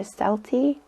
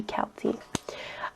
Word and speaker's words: Celty: show they call her celty but if you pronounce it like the irish it should be kelty so anyway um in